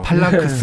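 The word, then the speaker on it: Phalanx: 근데 아무튼 이 영어 발음은 항상 어려워. 팔랑크스.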